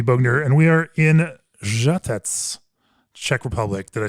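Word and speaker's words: Žatec: podcast I'm bner and we are in jet Czech Republic that I say correctly yeah that's great I mean the great pronunciation it's Jet Jet U we're in the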